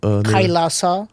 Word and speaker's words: Kailasa: How do you pronounce the name? Kailasa.